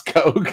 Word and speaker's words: Koch: about europe yeah it's it's pronounced coke oh thank you danny it's not it's coke i don't know anything